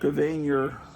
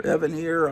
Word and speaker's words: Evanier: He has Mark Evanier, or Evanier, I've heard people pronounce it both ways.